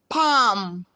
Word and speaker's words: palm: Palm, calm, letters AL. Letter L is silent.